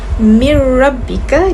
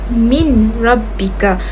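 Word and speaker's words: مِن رَّبِّكَ: Jadi cara bacaannya ialah mir rabbika dan bukan min rabbika.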